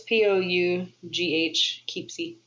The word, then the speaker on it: Poughkeepsie: Yeah, I've seen it spelled out, and it's spelled with like a Poeskee. It's Pough, Keepsy.